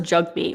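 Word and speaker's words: Jagmeet: or maybe I'm thinking Jag me it just sounds like a slur of some kind okay it's actually yeah it's pronounced jug meat which is strange me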